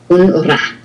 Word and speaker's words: rat: Just ra. No, ra. No T. Okay, rat. Un rat.